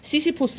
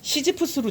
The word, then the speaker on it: 시시포스: 굽은 허리로 힘겹게 이 역할을 끌고 있는 그 노인들은 단지 늙고 가난하다는 이유만으로, 여기 시시포스, 이게 시지프스로 제가 설명을 드릴게요. 시시포스가 이제 그 정식 어떤 우리말 발음이 맞는데, 이게 그리스 신화에 시지프스 아시죠?